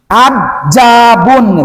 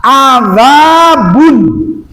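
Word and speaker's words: عذاب: Adjabun kan kita salah. Azabun. Azab bukan ja, jauh.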